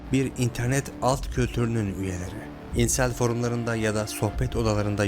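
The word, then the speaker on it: incel: denen cani hakkında onun İnsel olabileceği konusunda konuşalım ortaya diye bir kelime çıktı çoğu kişinin ilk kez duyduğu bir kelime birçoğu İncel diyor Fakat bu doğru bir telaffuz değil Çünkü kelime İngilizce kökenli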